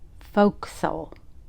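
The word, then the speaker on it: fo'c'sle: And it is pronounced folks.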